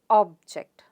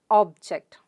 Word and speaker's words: object: syllabification here object so where does the stress come on the first syllable so how do you pronounce it object object the stress is on or sound let's pronounce it object good of course again